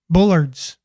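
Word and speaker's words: bollards: It's pronounced Bullards. Okay, just like Mike back in the day, Mike Bullard.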